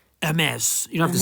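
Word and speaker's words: Hermès: a good few times not hermes it's not a delivery parcel company it's a french word a mess you don't have to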